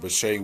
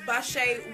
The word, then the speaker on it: Bashae: Look up Bashay Williams on Facebook.